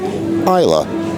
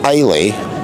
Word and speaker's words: Islay: important of all I've learned that Isa is pronounced AA not iy or Isa and my 39 years on this Earth I've